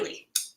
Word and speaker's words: Eley: Eley.